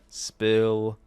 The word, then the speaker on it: Spill: This is the 48th edition of the Chill Spill Podcast. The S is silent, by the way.